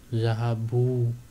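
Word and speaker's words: ذهبوا: now you will learn zahabu they went masculine pluto and note one thing that this alif that you see at the end is not pronounced this alif is not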